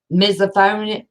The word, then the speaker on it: misophonia: as annoyances as someone yawning, they may have misophonia.